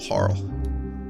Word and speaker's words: Harle: uh me a little harl I know some people think it's pronounced Harley it might be but I mean Harley Quinn that's spell h a r l e y right that's just harl and Marl I don't know